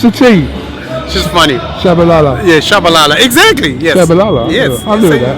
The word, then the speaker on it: Tshabalala: tell me it was tishala no the the tea is silent it throws a lot of people tell me to call